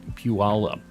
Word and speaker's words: Puyallup: Now we'll pronounce it as wrong as possible. It is Puyallup.